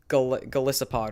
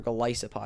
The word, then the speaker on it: Golisopod: So our honorable mention here is Golisopod, or Golisopod, however you want to pronounce it. I call it Golisopod.